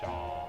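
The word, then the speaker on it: Seam: Pronounced Shaw.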